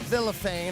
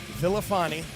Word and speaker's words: Villafane: Wanted to make sure we pronounced it vilophane and not Vilifani. I told him I was like I don't it doesn't look Italian to me so I wasn't going to call him Vilifani.